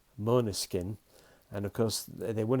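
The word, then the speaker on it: Måneskin: year's eurovision song contest mona skin you spell it m-a-n-e-s-k-i-n but there's an o over the a which makes it oh so it's mona skin and of course they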